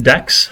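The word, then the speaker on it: deque: thing stacks queues and this is pronounced dex i found out which is the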